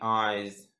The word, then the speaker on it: eyes: Big eyes, big eyes. Первую и не произносим. После Y и тоже не произносим букву Y, говорим как в алфавите, как I. Произносим как в открытом слоге. I, eyes, z.